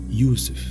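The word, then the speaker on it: Yusuf: kzb and of course Joseph originally pronounced Yousef in Arabic the words flux wild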